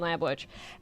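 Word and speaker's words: Lambwitch: my name is lamb witch and it it's spelled like wi T C like I'll get you my pretty like that which right and I do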